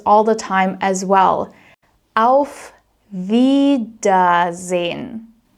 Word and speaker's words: auf: So whenever you see an AU combination, it's always pronounced as au, au. So in this case, auf, auf.